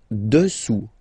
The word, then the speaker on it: dessous: Dessous. Dessous. Final S not pronounced here. Dessous.